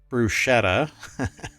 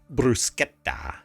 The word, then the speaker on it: bruschetta: else going on and mispronouncing the word bruschetta as bruschetta and not bruschetta could soon cost thousands